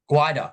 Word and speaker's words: Gwydir: So before entering Parliament, you served as the mayor for, correct me if I'm pronouncing this wrong, Gwydir, Gwydir Shire Council? Gwydir.